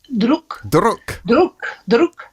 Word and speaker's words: Druk: You can pronounce it better than me. Druk.